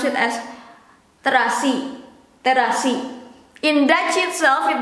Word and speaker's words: terasi: It is the same with this. Terasi, it becomes trasi.